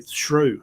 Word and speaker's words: Shough: It's like through, but with an S. It'll be Shrew.